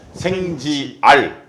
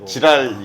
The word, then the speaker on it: 생지알: 생 지역 알림 예 생지 r 발음 잘 해야 되기 때 지랄 이 아니라 라 4 네 오늘